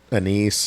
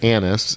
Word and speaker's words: anise: I'm getting that anise or licorice flavor on Dude, the you back. said it right. Not the anus. I didn't say anus last time. I Grove. said anise.